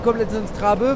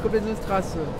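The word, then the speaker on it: Koblenzer Straße: Puisque le petit symbole entre le A et le E, ça se prononce. Donc, au lieu d'écrire Koblenzer Trabe, faut dire Koblenzer Trasse.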